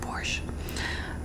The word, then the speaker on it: borscht: chicken but it's called borscht are we the tea silent porsche it's called porsche but i always it's spelt with a tea for some reason in english i'm trying to bring